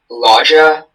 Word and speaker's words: loggia: Are there any alternate pronunciations? Loggia, Loggia, Loggia.